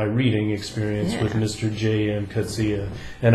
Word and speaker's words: Coetzee: Coetzee. And I know that's how his name is pronounced because I asked a South African here in Taiwan, and it was confirmed. It is Coetzee, Coetzee.